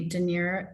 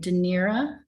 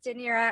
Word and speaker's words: Danira: comment and i see de niro is i'm not sure i'm gonna pronounce it right de nira yes de nira thank you hello everyone my name is danira i'm with um exchange